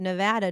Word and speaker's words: Nevada: Well, I don't say aunt because there actually is a U there, but Nevada does not have a U and therefore I pronounce it with an a sound.